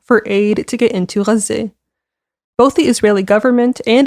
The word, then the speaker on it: Gaza: in Palestine, in both Gaza and the West Bank. I'm going to say Gaza because that's how you say it in Arabic, but that means Gaza for those who are unfamiliar.